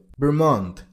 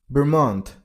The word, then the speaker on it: Vermont: Vermont. Vermont. And remember, while you pronounce the second syllable, you should make a t sound at the end of the word.